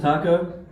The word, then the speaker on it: Taco: floor my name is taco pronounced exactly like the mexican food yep i got a